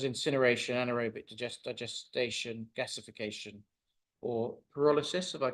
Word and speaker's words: pyrolysis: technologies such as incineration, anaerobic digestion, gasification, or pyrolysis, if I pronounce that correctly.